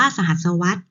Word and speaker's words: สหัสวรรษ: เวลา 1,000 ปี คือ คำ ว่า สหัสวรรษ ออก เสียง ว่า สหัสวรรษ นัก เรียน จะ เห็น